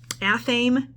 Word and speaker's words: Athame: out aaman Alchemy um athame and Alchemy is how you would pronounce that and I will put